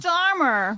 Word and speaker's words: Keir Starmer: Keir Starmer.